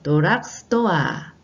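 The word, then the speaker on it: ドラッグストア: 일본어로는 도락스토아, 도락스토아라고 발음합니다.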